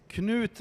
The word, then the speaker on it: Knut: It's Knut Bergqvist. Knut is it's a knot in English, a knot.